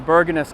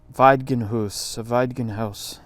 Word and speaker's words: Bergenhus: So I think in a Norwegian accent, this is pronounced Bergenhus.